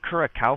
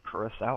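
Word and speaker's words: Curaçao: I've been saying it Curacao for too long. It is Curacao. I actually learned how to pronounce it.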